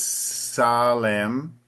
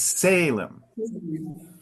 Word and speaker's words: Salem: If the pronunciation in Portuguese is Salem, uh, in English the emphasis always moves up more to the front. So it's Salem.